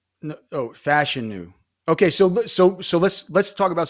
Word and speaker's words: Fashanu: We were talking about Fashanu, and now you're talking about Fatanu. No, Fashanu. Okay, so let's talk about some pronunciations of this year. Fashanu, Olu Fashanu. He told us it's like fashion with the U.